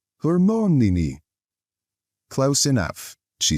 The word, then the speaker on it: Hermione: He kept calling her Hermione. Hermione, she said, slowly and clearly. Hermione.